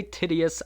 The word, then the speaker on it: Titius: You're going to find chapter 5 very funny, Peter Brady there, because we say Titius a lot. And yes, that's how you say it.